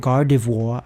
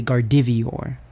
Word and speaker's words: Gardevoir: the show either and and gardevoir i would say gardivior i don't know and